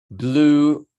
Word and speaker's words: blew: Cuando ya pasó, o sea, en el pasado, pasa de blow a blue. Se lee blue. Blew my house down.